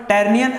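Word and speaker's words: Tyrrhenian: है ये आपका है टरनियन ठीक है टेरियन य यच साइलेंट रहता है यहां पर टरनियन और यहां पर लिगुरियन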